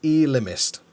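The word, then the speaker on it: Ellimist: And also, how do you pronounce the man in blue in this episode? The Elimist. Apparently, according to this, it's Elimist.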